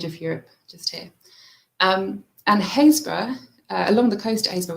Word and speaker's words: Happisburgh: So Happisburgh, well pronounced, not spelled that way.